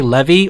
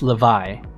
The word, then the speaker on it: Levi: I'm trying so hard not to say Levy or Levi. It's Levi.